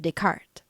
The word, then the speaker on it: Descartes: Probably from Rene Descartes, 1596 to 1650, pronounced Descartes.